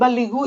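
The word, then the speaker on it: بَلِّغُوا: Ya, balighu bacanya yang betul balighu ibu kakak belagu.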